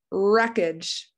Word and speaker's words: wreckage: t in that one wreckage yeah we don't hear the w a lot of it